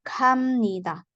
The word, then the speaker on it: 갑니다: Jadi contoh di sini 갑니다 dibacanya 갑니다. Nah, jadi miam di sini.